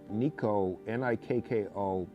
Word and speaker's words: Nikko: It's Nikko, Nikko Pen. That's what it's pronounced.